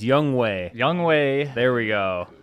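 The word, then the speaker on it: Younghoe Koo: They release Young Hoku. You gotta say his name right one time. He's not even in the league anymore. It's Young Wei.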